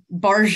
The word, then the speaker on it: Burgess: do you pronounce it it is barge it's like when people say the fancy uh version of Target they say they say Target it's very very similar and your first name